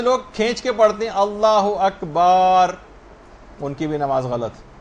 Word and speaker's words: اللہ اکبر: مثلا اللہ و اکبر، اللہ اکبر ہے، اللہ و اکبر نہیں.